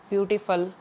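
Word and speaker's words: beautiful: है ना बहुत सारे, मतलब FUL की जो प्रोनाउंसिएशन होती है वो फल होती है, क्या होती है, फल, ब्यूटीफुल, स्पाइटफुल। और हम इनको देखते हैं बहुत बार फुल ही पढ़ा जाता है क्योंकि अपनी आदत होती है, जैसे हिंदी बोलते हैं उसी तरह से स्पेलिंग को देख के उसका उच्चारण करने की, लेकिन जो करेक्ट प्रोनाउंसिएशन होगी वो फल होगी, फुल नहीं, फल, स्पाइटफुल, ब्यूटीफुल, इस तरह से, स्पाइटफुल।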